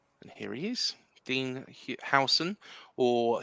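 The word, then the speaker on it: Huijsen: for the club and here he is Dean hon or Houston um as some people have been saying it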